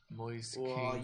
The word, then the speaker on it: Moise Kean: Moise Keane you just coming know.